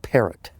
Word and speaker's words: Parrott: How do you say that? Perot? They called it Parrott.